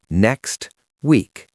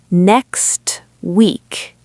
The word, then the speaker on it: next week: Next week so the brain being lazy and efficient says delete the T.